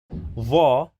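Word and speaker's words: ظ: So sa is a strong S, ba is a strong D, pa is a strong T, va is a strong TH in the word the, so it is va, and qa is a strong K.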